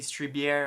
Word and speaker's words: Strieber: I was happily reading it by Whitley Strieber. I think that's pronounced as weird, kind of Jewish name.